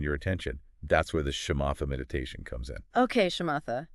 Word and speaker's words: Shamatha: That's where the Shamatha meditation comes in. Okay. Shamatha, tell me more about that. Sounds kind of intense. It is in a way, but it's so cool. Shamata, pronounced shamata.